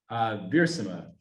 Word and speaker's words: Wiersma: so how do you pronounce Wiersma? Viersima. with a So V. with a V, Yeah, it's Dutch.